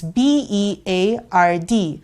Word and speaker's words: beard: And then you have the word beard, which is almost spelled the same way except for the letter B. It's B-E-A-R-D. However, you pronounce it as beard. And you pronounce the word heard as heard.